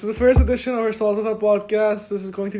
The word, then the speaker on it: Saltafa: Also, yeah, everybody who asks me how to pronounce it, there's 2 correct ways to pronounce it. The correct way is Saltafa, but what I call it is Saltava.